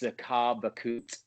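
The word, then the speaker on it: Захар Беркут: It's kind of like their historic novel, Mm, which I'll send you the spelling, but it's pronounced Zakar Bakut.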